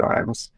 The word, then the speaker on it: Ijames: I am on I'm on Instagram, and I think it's JW Ijames at JW Ijames. Which looks like it's spelled James L. James, but you get that a lot.